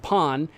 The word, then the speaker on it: Pan: but that's he wasn't it is but it's pronounced Pon or P Pon and it's uh he's not